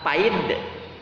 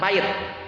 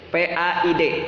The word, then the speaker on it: paid: Yang pertama paid, bukan pahit, paid, P-A-I-D, paid.